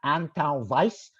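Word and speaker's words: Antão Vaz: um perform extremely well the grape is pronounced ant vice or vice depending on if your your accent is portuguese uh versus brazilian but that's definitely there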